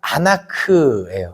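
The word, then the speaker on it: אנך: 근데 다림줄의 의미는 뭐냐면 다림줄이라는 그 히브리어 원어가 아나크예요.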